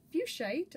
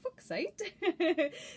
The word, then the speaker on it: fuchsite: there you have it lepidolite and fuchsite or foxite depending on what you prefer um yeah that was